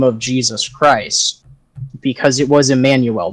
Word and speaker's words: Jesus: reason we pronounce it Jesus is because that's the phonetic pronunciation of the Greek version of his name glorified Athena or